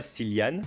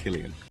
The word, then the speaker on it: Cillian: traits de Cillian Murphy, et non pas Cillian, it's pronounced Killian.